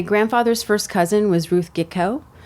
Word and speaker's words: Gitko: My grandfather's first cousin was Ruth Gitko. Although my family pronounces it Geekow. It's really Geekhoff. It was changed at Ellis Island.